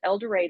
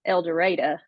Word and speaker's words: El Dorado: in a little town called elder but if you're from there it's elera you got to say it right I actually know where